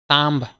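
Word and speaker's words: thumb: আছে সাটেল তারপরে আছে টি এইচ ইউ এমবি তাম লাস্টে বি আছে কিন্তু বি এখানে সাইলেন্ট এটা আমরা খামু তাম ঠিক আছে তাম বি সাইলেন্ট নেক্সট আছে তাম মানে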